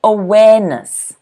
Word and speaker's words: awareness: is awareness awareness okay awareness notice the stress again is on the second syllable notice where where like where top awareness we're atop awareness hey